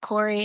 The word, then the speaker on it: Q'ori: So, first it was just Corey and that comes from my middle name.